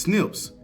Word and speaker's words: SNP: little thing down so what is a snip snps pronounced Snips are Comon and share